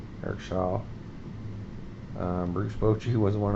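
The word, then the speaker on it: Show: by Eric Shaw spelled sh H but it's pronounced Eric Shaw Eric Shaw um Bruce Boi was one of he was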